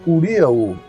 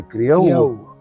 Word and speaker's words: Curiaú: Eu quero corrigir sempre as pessoas que o nome não é Curiaú. Esse Curiaú foi uma posição dos intelectuais que vieram para o Amapá e que resolveram, os Cunha foram campeões disso, estudar, mas pronunciar Curiaú. Mas se você for lá, ou quem for lá, não é o nome dessa comunidade, é Criaú.